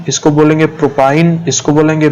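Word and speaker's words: propyne: तो इसको हम क्या प्रोनाउंस करेंगे? इथाइन, इसको बोलेंगे प्रोपाइन, इसको बोलेंगे ब्यूटाइन, इसको बोलेंगे पेंटाइन और इसको बोलेंगे हेक्साइन।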